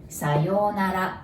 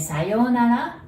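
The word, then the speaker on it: さようなら: Sayonara has 5 characters. And sayonara, there is U between yo and na. And so there is OU there, so you pronounce it like O.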